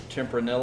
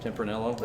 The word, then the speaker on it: Tempranillo: a 13 year old Tim pernil oh that how you pronounce that I think so Tempranillo i think the elves are silent yeah that's that's a